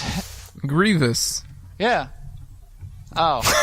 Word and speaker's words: Grievous: three General Grievous what what's how do you pronounce it Grievous yeah oh J Grievous okay all right Kuma